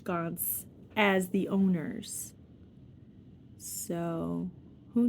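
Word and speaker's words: Ganz: they called him Saul, Gans, like the Gans bear, G-A-N-Z. That's the pronunciation anyway.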